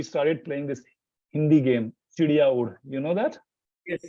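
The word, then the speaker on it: चिड़िया उड़: It has 2 sounds, R, in both, Chidiya and Ud, right? So when I pronounced that, the 11-year-old was not able to pronounce. He was saying Chiriyaur with R, and the other 2,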